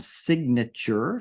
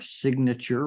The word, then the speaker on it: signature: talked about the noun signature signature remember that g is pronounced in this word but in the related